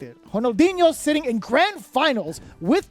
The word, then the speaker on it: Ronaldinho: if it's R in the beginning of a word, it's pronounced as an H. If it's in the middle of it, then it's an Interesting. R. Okay, Ronaldinho.